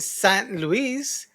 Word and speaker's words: St. Louis: They And don't pronounce it Luis, Saint Louis.